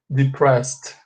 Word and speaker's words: depressed: Você separa aqui na pronúncia, fala depress, aí você pronuncia um ED com som de T, ok? So you say like this, olha, sorry, just like this, ó, depressed, depressed, com som de T aqui, ok?